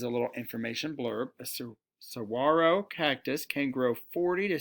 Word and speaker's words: saguaro: drizzle hole in a cigaro cactus saguaro cactus sorry this g is silent and i know that